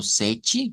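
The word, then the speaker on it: sete: Luego que el 7 lo decimos como sechi, ¿verdad? Que se corresponde al sonido chi, en este caso.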